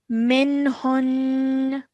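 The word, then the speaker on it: مِنْهُنّ: So that means we have to stop our sound of noon at the end and not pronounce the fatha. Okay. So we would say it as minhun. Minhun. Okay. But remember to hold that nasal sound at the end for about 2 seconds.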